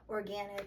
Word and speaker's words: Organyc: And the brand I've been buying the most is called Organyc, spelled like with a YC at the end instead of an IC, Organyc, and they're great.